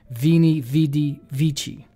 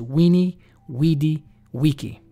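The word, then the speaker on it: veni, vidi, vici: back into the Latin the letter V was not pronounced v as we pronounce it today a lot of people erroneously quote saying that Julius Caesar said Vini vidi vici which means I came I saw I conquered but when you go back to the actual Latin pronunciation is weenie weedy Wiki I came I saw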